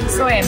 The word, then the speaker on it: soya: How do you say S-O-Y milk? Soya milk. Soya. Like a soya latte?